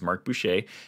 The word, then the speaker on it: Mark Boucher: name, and so I already knew how to pronounce it. So it is Mark Boucher.